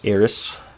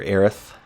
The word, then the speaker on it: Aerith: decide to finish that there's eros or Aerith or Aries I know people say her name like ten thousand different ways I have always said eros daijoubu Sephiroth the iconic